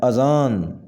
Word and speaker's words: اذان: ہے یکم، یکم، یکم۔ آذان، صحیح تلفظ ہے اور اس کی صحیح املا ہے اذان، اذان۔ ہجوم، ہجوم، صحیح تلفظ